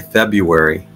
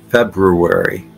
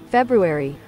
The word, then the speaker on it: February: lot of times I'll I will not pronounce the first R I'll just say February but it's both RS are pronounced February February it's not February but that's what I say it's wrong what about you guys